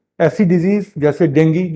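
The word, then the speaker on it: dengue: वो ऐसी डिजीज जैसे डेंगू जो हर साल लौट के आता है, जिसको लोग डेंगू बोलते हैं, उसका सही प्रोनाउंसिएशन डेंगी है, चिकुनगुनिया, जैपनीज एंसेफेलाइटिस।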